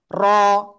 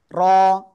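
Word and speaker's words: ر: র, র, র। এইভাবে যদি আপনি বলেন আপনার অক্ষর উচ্চারণ সঠিক হবে না। র- এই যে জিহ্বার আগা উপরে তালুর সাথে এরকম বাড়ি খাইতে চায় বারবার, কিন্তু এটা করা যাবে না, ঠিক আছে? জিহ্বার আগার পিঠ উপরে তালুর সাথে 1 থেকে 2 বার সংঘর্ষ লেগে এই অক্ষরটা উচ্চারণ করতে হবে।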